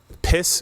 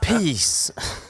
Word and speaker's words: PiS: Right, the ruling party, Law and Justice, which ironically is piss, is it's one S, but it's still piss. That's the pronounced peace.